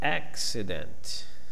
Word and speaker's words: accident: Accident. Okay, the first one will have a stressed syllable, ac, and the second and the third are unstressed.